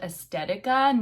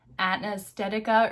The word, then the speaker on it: Aesthetica: It's called Aesthetica, not Anaesthetica or whatever I said.